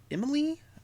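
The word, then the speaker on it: Émilie: sitting his name uh I want to pronounce it Emily although it's e-m-i-l-i-e Emily again uh this is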